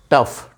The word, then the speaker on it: tough: यूजीएच तो साइलेंट है, और एंड लास्ट पर है तो इसका उच्चारण हम फा करेंगे, जैसे रफ। ठीक है, टफ, TOUGH, टफ इनफ।